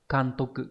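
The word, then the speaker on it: 監督: Thì chữ này sẽ đọc là Kantoku.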